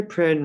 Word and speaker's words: Prynne: Hester Prynne rhymes with sin, and the scarlet letter is a mark of shame.